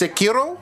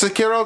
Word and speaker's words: Sekiro: Yeah, so it's I think it's pronounced Sekiro. I think it's Sekiro.